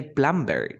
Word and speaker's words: plumber: then you say plum plumber you never say plumber no you say plumber plumber then you say calm